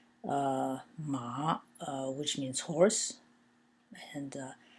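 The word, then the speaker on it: 骂: and it means ma it's pronounced ma in the fourth tone it means to scold so sometimes as I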